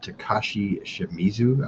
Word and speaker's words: Takashi Shimizu: Directed by Takashi Shimizu, I believe is how you say it.